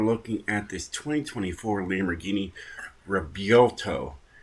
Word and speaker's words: Revuelto: The V is actually a B. That's how it's said. It looks like it's Revuelto or something like that, but it's not. You have to use B instead of a V.